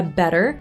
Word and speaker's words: better: Per esempio, nella parola better, davanti in lingua inglese penso, sto usando una D, però non è una D, in realtà è tipo una R italiana, forse leggerissimamente diverso, perché